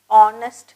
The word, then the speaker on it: honest: H is silent, honest அப்படின்னு சொல்லணும்.